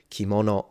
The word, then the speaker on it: kimono: can see it here kimono and that's at the beginning of a word and it does not turn into a g it's still pronounced as in its original sound which is K literally mono means object